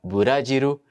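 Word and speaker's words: ブラジル: encontros outos conon anais Brasil vira badiru e alguns sons que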